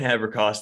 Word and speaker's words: Haberkost: the show with me and unless you pronounce the last name because I've already forgot it that's okay Haber cost thanks for having me Brett and for